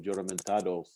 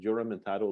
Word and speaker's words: Juramentado: That's the Juramentado is a Spanish word, and the J, they pronounce it with an H, so it should be Juramentado.